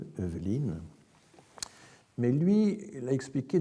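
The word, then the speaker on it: Heuveline: et lui, il l'avait, donc ça s'écrit H-E-U-V-E-L-I-N-E, Eveline, mais lui, il a expliqué d'une étrange façon.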